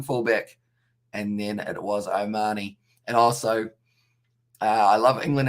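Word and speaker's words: O'Mahony: wrong don't i i'm i'm glad that i pronounced omani right though so i used to call him peter o mahoney and everyone used to laugh at me and just say what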